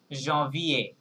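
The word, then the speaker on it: janvier: silent থাকবে ঠিক আছে আরটাও সান হবে না জন ভি এ ই এ পর্যন্ত গিয়ে থেমে যাবে okay yes John V এ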